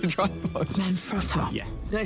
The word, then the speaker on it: Manfrotto: Manfrotto.